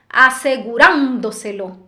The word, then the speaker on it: asegurándoselo: Y un último ejemplo, asegurándoselo.